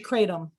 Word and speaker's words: kratom: positive how it's pronounced is it kratom it's actually kratom yeah kratom there we go